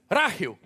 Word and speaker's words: Rakhiv: What is the town pronounced properly? Rakhiv.